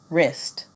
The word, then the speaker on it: wrist: me thumb lamb climb silent W right wrong wrist repeat after me right wrong